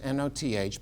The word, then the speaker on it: Noth: The great German scholar Martin Noth, N-O-T-H, but it's pronounced Noth, said, right, it's not just Deuteronomy.